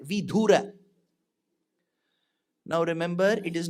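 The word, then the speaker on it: विधुर: wife is dead then that widower is called vidhura now remember it is not vidura we small the bidura means Vice there was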